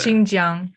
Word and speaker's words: Xinjiang: over statements about is it how do you pronounce that province that starts with an x i can't see it oh okay xinjiang xiaomi was way off mr donahue made the